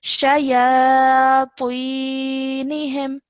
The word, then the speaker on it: شياطينهم: So this ta is a thick and heavy sound. So shayatinihim, like that.